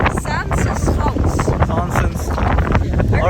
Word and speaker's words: Zaanse Schans: Zansens. Sansa's house. Zansens.